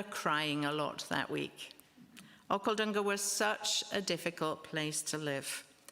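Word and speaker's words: Okhaldhunga: asked to go to Okhaldunga. That's how you say it, Okhaldunga. Sounds almost Scottish or Welsh, doesn't it? Okhaldunga.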